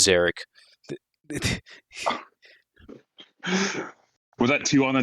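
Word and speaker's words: Szarekh: dyslexia um so it's zeric but the S is silent uh yeah kind of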